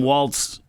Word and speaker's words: Walz: this is what Tim Waltz said and I've heard it pronounced walls or Waltz like a like the dance which is correct do we